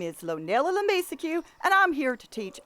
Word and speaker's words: LeMiseque: of the way first a lot of folks mispronounced my last name but that's not right it's la mesa q la mesa q not le misucci it's french certain people already know